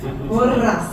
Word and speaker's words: Porras: Thanks for pronouncing it right. Porras.